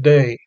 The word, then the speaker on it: Dei: For example, Agnus Dei goes to the first syllable of Dei.